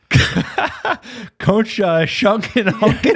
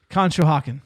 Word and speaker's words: Conshohocken: Concha Shunkin Honkin out here. It's like unbelievable. Somebody from this town, let us know how you pronounce it. Go for it. Conshohocken.